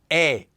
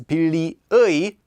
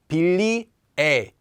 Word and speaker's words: 의: But when it's used as the particle 의, as this sort of meaning like an apostrophe 's' it is instead pronounced as 에.